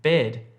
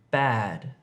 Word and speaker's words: bad: So don't say bed when you're trying to say bad.